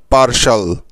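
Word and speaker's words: partial: আর এটা আমরা একটু আগেই শিখেছি যে TIAL এই চারটি বর্ণ একসাথে থাকলে তাদের উচ্চারণ সবসময় হয় শাল এর মতো, তাই তো। সেজন্য TIAL এর পরিবর্তে নিতে হবে শাল। ব্যাস হয়ে গেল পার্শাল। সুতরাং এই শব্দটা থেকে আমরা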